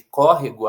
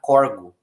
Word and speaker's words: córrego: E aí ela vai pronunciar, por exemplo, no lugar de córrego, ela vai pronunciar corgo, corgo. Ou seja, como se essa palavra fosse não proparoxítona, mas paroxítona.